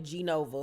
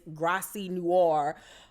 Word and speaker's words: Graci Noir: She calling it G Nova, like it's Fashion Nova. Then she calling it Grace Nova, Grace Noir, and it's Graci Noir or whatever. She don't even know how to say it.